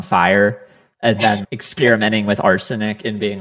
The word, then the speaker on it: Arsonic: did your name come up and is it pronounced I'm assuming it's arsonic but yeah it's arsenic yeah how did you come up with the